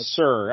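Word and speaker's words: Sieur: you were Satan yeah I think it's pronounced sir I guess it's an archaic version of sir but it's spelled s-i-e-u-r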